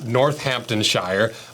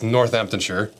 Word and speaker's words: Northamptonshire: family started making boots in what I would pronounce northamptonshire but the correct pronunciation is northamptonshire a few English guys out there I apologize